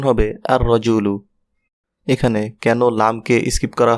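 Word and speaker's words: الرَّجُلُ: এটাকে ডেফিনেট করলে হয় আর রজুলু। এখানে একটু লক্ষ্য করুন শুরুতে আল যুক্ত হয়েছে কিন্তু লাম উচ্চারিত হয়নি। অর্থাৎ আল রজুলু না হয়ে লামকে স্কিপ করা হয়েছে। অর্থাৎ উচ্চারণ হবে আর রজুলু।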